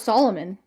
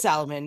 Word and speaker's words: Salomon: I thought it was Solomon. Salmonella. No, it's Salomon.